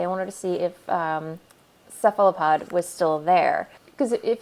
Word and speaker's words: Cephalopod: Am I even saying that right? I always get this wrong. Cephalopod. Yes, I am saying it right.